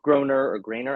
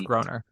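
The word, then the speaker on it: Groener: There was Harry Grainer, I don't know how to pronounce it. I think it's Groner. Groner for Crazy for You.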